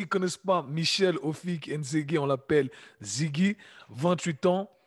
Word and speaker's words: Nzege: Ah, Et mon nom de famille, tu vois, Nzege en français, ah. Nzege, eux, ils le prononcent Nzegi.